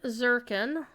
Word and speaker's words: Zirkin: reward Bender Okay so delving zirkin like reminds rhymes with Jerkin the pickle not the wanking be